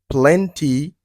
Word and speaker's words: plenty: Dit, drink plenty of water every day. Drink plenty of water every day. So you can hear people say plenty of, plenty of. It's like T is silent, okay?